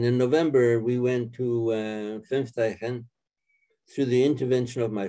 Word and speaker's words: Fünfteichen: So after you were in Auschwitz, you were then transferred to Fünfteichen. I believe I'm pronouncing that correctly.